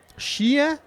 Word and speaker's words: Sheahan: Prononce ça comment? Shehan, moi. Lui. Shehan. Sheahan?